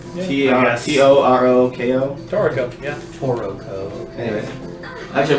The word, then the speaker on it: Toroko: Or spell it? Toroko. T-O-R-O-K-O?